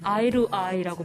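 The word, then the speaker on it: I to I: 아이 투 아이. 아이루 아이라고 발음을 하는데 눈과 눈을 마주치는 뜻이고요.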